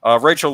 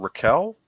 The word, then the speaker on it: Rachael: Raquel? Is it Raquel or Rachel? I'm sorry. I should have known this. I mean, it looks like it's spelled Rachel to me. Okay, Rachael. Okay, yeah, Rachael was an extraordinary talent,